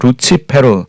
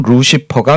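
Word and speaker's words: Lucifer: 있다 할지라도 아침과 여기에 라틴어 루치 페루 영어식 발음 루시퍼가 사용되어졌습니다 같이 될 것이요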